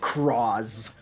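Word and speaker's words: Cross-Z: Oh yeah, Cross Z Dragon is pronounced Croz, which is cool.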